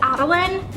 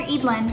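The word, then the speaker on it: Eadlyn: it is the character's name I thought was Adeline for the entirety of me reading the book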